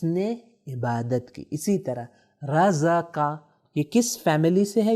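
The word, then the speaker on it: رَزَقَ: پہلا جو لفظ ہمارے سامنے ہے وہ ہے رزق. تلفظ دیکھیں 3 فتحہ.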